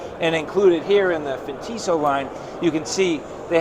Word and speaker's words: Fintiso: So that's the new rule. I can't say Fintiso anymore. I have to say Fintiso. Hey, look it, it's tomato, tomato, right? It is okay. How you pronounce it, it's all fair. Because jewelry, and it's high class now, so it's Fintiso. Kind of that Italian sound.